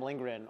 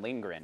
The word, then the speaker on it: Lindgren: all the same Adam lingrin is that how you pronounce it Adam Lindgren yeah I like our mind on your face right like lean grin Lin grin Lin g-r-e-n it's g-r-e-n Gren is he good he's